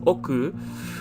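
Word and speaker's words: 億: character as well and it's pronounced as oku and this is how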